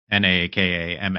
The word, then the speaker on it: nakama: U thankfully Japanese is is a little more phonetically aligned. So uh n a ka ma is nakama.